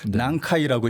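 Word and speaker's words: 南海: 한자로 남해를 쓰면은 일본식으로 난카이라고 읽거든요.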